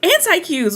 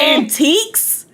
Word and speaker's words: antiques: I was like, anti-Qs, we pass it every day. And he was like, he looked at me and he was like, antiques? And I was like, I was like, oh, that's how you say it. In my mind, on the way to school every day, I've been calling them anti-Qs.